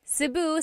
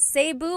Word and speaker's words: Cebu: So, technically in the Tagalog alphabet, the letter E can be pronounced E or E like the letter I. So, I say Cu. Cebu. And I know some people say Sabu, but usually it's either Cu or Sebu.